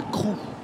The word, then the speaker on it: Crewe: Et après, on déménage à Crewe. Oui. C'est comme ça qu'on prononce?